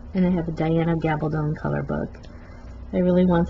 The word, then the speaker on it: Gabaldon: And yes, you do pronounce her last name Gabaldon, like rhymes with stone. It's not Gabaldon, it's not Gabaldon, it's Diana Gabaldon. Gabaldon rhymes with stone.